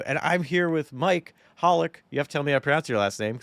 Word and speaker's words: Holik: And I'm here with Mike Hollik. You have to tell me I pronounced your last name because I'm assuming that's correct, but actually Oh my gosh.